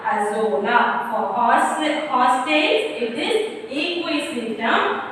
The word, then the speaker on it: Azolla: Pronounce it correctly, children. Equisetum Azolla.